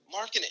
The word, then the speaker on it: Markkanen: Markkanen.